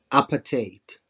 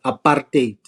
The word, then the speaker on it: apartheid: do a joke about how Americans pronounce it appetite right which is apartheid for us um so Marina